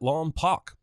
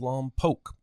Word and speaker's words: Lompoc: Watson says he's from Santa Maria near Lompoc, pronouncing it Lompoc. If he actually lived there, he'd know it's pronounced Lompoc.